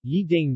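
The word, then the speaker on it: 一定: shibushi shibushi for ye ye is pronounced with second tone when followed by a fourth tone syllable example Yi ding Yi plus Dieng must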